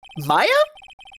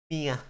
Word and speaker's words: Mia: Maya? Is that how you pronounce that name? Ara. No. We're sharing her. It's different. They're two different characters. Mia.